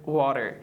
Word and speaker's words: water: یعنی شما کوشش بکنید به گونه فاست دی تلفظ کنید، نه به گونه هارد دی. مثلا so we have the word water.